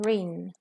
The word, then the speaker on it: reign: of the electric car here we have two words have the same pronunciation rin so one of them